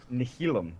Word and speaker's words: Nihilum: couldn't pronounce Nihilum, because you have no idea. Nihilum.